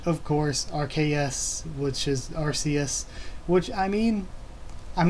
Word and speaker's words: Arceus: which means God, that it's actually pronounced Arceus, which would make sense because it's the RKS system. So yeah, maybe we've been pronouncing it wrong the entire time and it is pronounced Arceus and not Arceus.